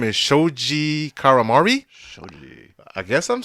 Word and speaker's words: Shoji: Shoji.